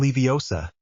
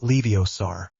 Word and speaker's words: Leviosa: It is Levi OSA, not Leiosaur.